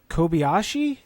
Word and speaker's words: Kobayashi: We have Rockefeller in the 42, Andy Lally in the 51, and then we got Kobayashi. Is that how you pronounce?